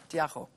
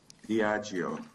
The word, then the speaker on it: Diageo: Firstly, Lebogang, am I pronouncing that correctly? Diageo. Diageo. Oh, Diageo.